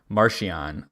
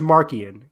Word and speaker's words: Marchion: I feel like it's Marchion or I looked it up. I'm pretty sure it's Markian because I went on.